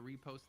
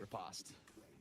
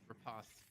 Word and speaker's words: riposte: Even a preemptive repost there. Ripost. Oh my god, I can never say that word right. Riposte. Riposte. Even worse, I said it wrong twice.